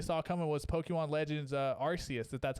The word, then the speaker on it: Arceus: Holy moly, Arceus!